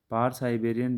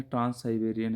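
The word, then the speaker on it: Trans-Siberian: पार साइबेरियन rail मार्ग, ये पार नहीं है, ट्रांस साइबेरियन है, ये पार साइबेरियन, थोड़ा करेक्शन इसमें कर लीजिएगा, नीचे इंग्लिश में जो है करेक्ट प्रोनाउंसिएशन है इसका, ट्रांस साइबेरियन है वो।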